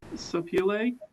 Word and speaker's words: Sapele: Could you say the name of the wood again and even spell it for me? Yes, Sapele, S-A-P-E-L-E.